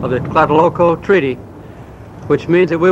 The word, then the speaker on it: Tlatelolco: That's where the foreign office is in Tlatelolco.